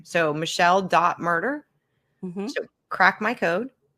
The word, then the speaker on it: Myrter: And by the way you all murder is spelled not murder like murder she wrote but it's m y r t er, right?